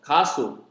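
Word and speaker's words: 가수: So this one is, and the first syllable is ka, ku, a, ka. So ka, and the next one is s and u. So su. So kasu, kasu.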